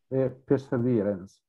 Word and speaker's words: Perseverance: Quindi mi dici come si pronuncia esattamente il rover attualmente in funzione su Marte? Perseverance.